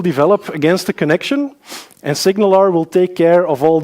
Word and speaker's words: SignalR: make sure you know how to pronounce it it's signal are like the Pirates so signal are if you want to